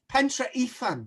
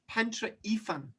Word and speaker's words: Pentre Ifan: Pentre Ifan. No, even better. Let's just get like pronunciation. Pentre Ifan. Ifan. Yes. Pentre Ifan.